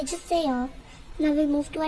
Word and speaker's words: 주세요: We say it as 주세요, 주세요, 주세요.